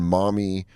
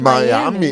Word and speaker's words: Miami: Well, we stopped in Mommy, Ohio. I'm probably pretty sure it's not how you pronounce that. It's probably like Miami. Miami. Oh shit! It's Miami.